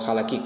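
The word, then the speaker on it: halakhic: Pues que su discurso estaba orientado principalmente a las normas legales, a halahik, o halakik, como se pronuncia.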